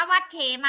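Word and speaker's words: วัดเขมา: เรือ มา จน ถึง วัด เขมา หรือ วัด เขมา อ่าน ว่า วัด เขมา นะ คะ ก็ รู้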